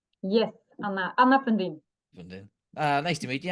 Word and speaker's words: Anna Fundin: My name is Cormac Harkin, and today we have, how do you say it, Anna Fundin? Yes, Anna Fundin.